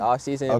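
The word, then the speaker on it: OFFSZN: EP offse man oo off season but it's called it's spelled off Zen though but I'm it's I'm saying offseason but it's spelled like off and then szn okay offseason yeah so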